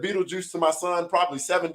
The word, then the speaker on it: Beetlejuice: when you read it, it is pronounced Beetlejuice.